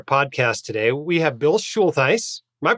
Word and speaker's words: Schultheis: We have Bill Schultheis. Am I pronouncing that right, Bill? Close enough. Schultheis.